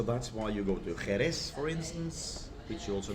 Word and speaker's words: Jerez: Of course, some people might know that the name Sherry actually comes from the name of the town, which is Jerez. Jerez. Or it's spelled with a J, but pronounced J.